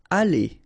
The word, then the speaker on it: aller: Aller, okay, R at the end, when you combine then you pronounce it E, aller.